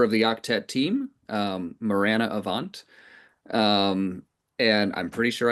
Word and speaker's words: Marana Avant: And, um, today I have the great pleasure of introducing the newest member of the Octet team, um, Morirana Avant. Um, and I'm pretty sure I pronounced it right.